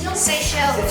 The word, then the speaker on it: Seychelles: Seychelles. Say. Like S-A-Y. Say. Say and a shell.